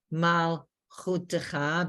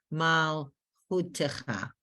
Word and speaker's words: malchutecha: So if you want to be technical and you want to say mal chutecha, because it's the beginning of the last syllable, so it would be mal chutecha. But we know mal is the first, that shva is silent, and chutecha, that shva has a sound of I, as in if.